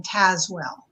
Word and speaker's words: Tazewell: I want to just correct you on the pronunciation of my name. It has a lot of silent E's in it. So it's actually pronounced Tazewell. Sorry about that, Tazewell. It's fine, but it's spelled like Tazewell.